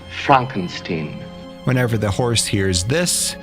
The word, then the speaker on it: Frankenstein: For example, in Young Frankenstein, My name, it's pronounced Frankenstein.